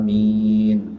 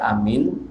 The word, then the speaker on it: amin: Jadi seperti yang biasa kita baca, yaitu dengan membaca amin, ya. Ini adalah bacaan yang masyhur, yang terkenal. Kemudian yang kedua, cara baca amin adalah dengan memendekkan huruf hamzah.